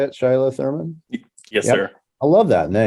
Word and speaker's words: Shiloh Thurman: That's how you say it, Shiloh Thurman.